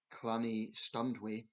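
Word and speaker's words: Llanystumdwy: The museum in tiny Clanny Stundway, hope I'm pronouncing that correct. I think in Welsh the two L's is a cl sound, so I hope I'm pronouncing that right.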